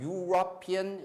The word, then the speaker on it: European: 그 다음에 E로 시작한 European, Europe 이렇게죠. E는 원래 모음이잖아요. 근데 발음이 U로 된단 말이에요.